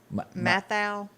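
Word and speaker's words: Matthau: Walter Mouthow. Yeah. Wait a minute. How do you say it? Mouthow? Mathau.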